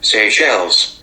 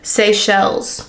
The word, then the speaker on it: Seychelles: Seychelles. Seychelles.